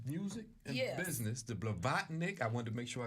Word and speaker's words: Blavatnik: Business, the Blavatnik. I wanted to make sure I got that right. You said it right. All sir. right, Thank okay. you. Vlavlatnik.